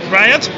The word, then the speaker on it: RIOT: Hi guys, so what is, how do you pronounce this actually? Riot? Got it right. Riot, okay.